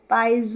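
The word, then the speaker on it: piezo: जिसका नाम है अ पाइज इलेक्ट्रॉनिक या इलेक्ट्रिक सेंसर स्पेलिंग है पी आई इ जड ओ पाइज और देन इलेक्ट्रिक सेंसर आप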